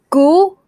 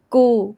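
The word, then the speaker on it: กู: know um this word goo no sorry not goo like g sound it's kukai good sound goo goo soft soft g or like k in sky yeah gu gu this one is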